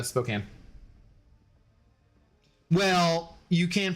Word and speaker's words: Spokane: How do you pronounce Spokane? Spokane. My brother is there now, and I think he's saying it all wrong. It's Spokane.